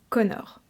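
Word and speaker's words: Conchobar: Par contre, ce héros, il a vécu sous le règne d'un roi qui s'appelle Conor. Ouais, je sais. Je suis tombée de ma chaise aussi quand je l'ai appris. Ouais, Conor.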